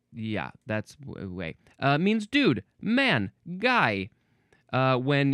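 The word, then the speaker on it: güey: Gooey is pronounced like the English word way. Gway? Oh, gway, I guess. Well, there we go. Or no, maybe there's no G sound at all. It's literally just way. The G is pronounced like a W, not a hard G. Way is just way.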